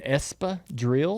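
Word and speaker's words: espadrilles: And it ends in an s which is silent.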